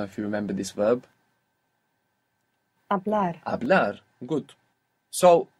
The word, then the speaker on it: hablar: To speak, began with a silent H. I don't know if you remember this verb. Hablar.